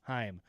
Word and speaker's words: Haim: No, it is like time. Haim.